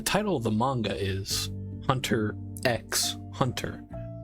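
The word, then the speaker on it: Hunter × Hunter: The title of the manga is Hunter X Hunter with the X actually being a symbol and isn't actually pronounced.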